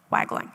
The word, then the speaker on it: Wagling: Chief, is it pronounced Wagling? Wagling, okay.